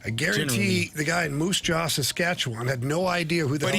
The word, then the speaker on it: Moose Jaw: I guarantee the guy in Moose Jaw, Saskatchewan, had no idea who the hell Jordan Walker was.